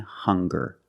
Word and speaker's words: hunger: Also, we have these two words, hungry and hunger. They also make the same sound with the nasal sound and the hard g.